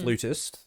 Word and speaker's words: flutist: Actually, in American vernacular, it's flutist. In English vernacular, it's flautist.